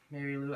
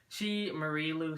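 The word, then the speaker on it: Marie Lu: So, Mary Lou, I think that's how you pronounce her. Marie Lou, sorry.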